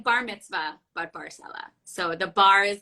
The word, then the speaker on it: Barsaleh: how do you pronounce your last name? It's Barsaleh. Okay, I wasn't sure how to pronounce it. Yeah, I was like bar mitzvah, but Barsaleh.